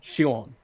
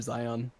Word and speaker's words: Xion: How do you pronounce her name? Shion.